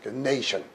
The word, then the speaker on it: nation: TI는 쉬 발음 나게 돼 있어요. nation 이렇게 되는 거죠.